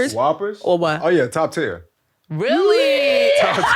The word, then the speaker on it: Whoppers: right next candy um uh how do you pronounce it whoopers Whoppers oh yeah top tier really top ten top